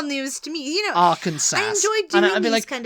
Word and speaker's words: Arkansas: I used to pronounce it Arkansas. Oh, I thought you were going to say, okay, it's... Arkansas.